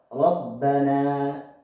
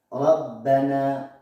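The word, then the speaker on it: رَبَّنَا: Contoh di dalam Al-Quran ada ro, Rabbana. Dibaca tebal maksudnya dia ada gemanya di dalam, kemudian membacanya sedikit berat. Rabbana, Rabbana, Rabbana.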